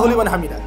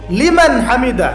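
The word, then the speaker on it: لمن حمده: বলবে এই উঠে সামিল্লাহ হুলিমান হামিদা হুলিমান হামিদা কি হুলিমান হামিদা বলে কি কোন শব্দ আছে নতুন শব্দ বানালাম আমি একটা সামি আল্লাহ তার কথা শোনেন লিমান হামিদা যে তার কথা যে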